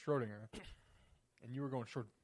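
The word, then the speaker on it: Schrödinger: and we were like, no, Schrodinger, but you don't pronounce it ding. It's just Schrodinger.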